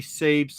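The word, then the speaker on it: Sabé: You keep Yeah, saying Sabe. I Sabe. was gonna say it's 2 syllables.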